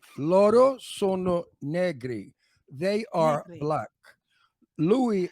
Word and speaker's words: Negri: So do I pronounce it Negri? Negri.